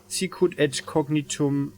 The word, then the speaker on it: cognitum: mask I learned that in Latin the C has to be pronounced like a k by the wayos xos cognitum cognitum perception plus 10